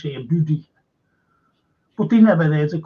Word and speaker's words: Boudicca: That's how you pronounce Boudicca, Boudicca.